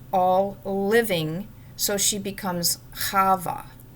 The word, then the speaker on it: Chavah: living so she becomes hava she's not Eve that's how it's said in English but that's that's a very incorrect translation of her name so I hope that you will always say hava from now on she